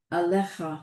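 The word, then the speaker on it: עליך: That's yud in there again. Yep, you gotta, yeah, the yud is just there. It's like the aleph in lo. It's just there. Right. That's how you spell it. Yeah. There aren't that many words like that. Most of them are phonetic, right? They're all phonetic. But that yud isn't phonetic.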